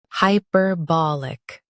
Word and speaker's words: hyperbolic: hi per ba lic hyperbolic Stress ba and keep hyperlic smooth.